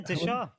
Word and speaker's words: Deshaw: Yeah, Deshaw.